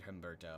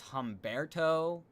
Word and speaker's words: Humberto: And also, yeah, it would be embarrassing to be hit by a hurricane named Humberto. I'm not going to lie. And apparently it's Humberto. I do apologize for mispronouncing it.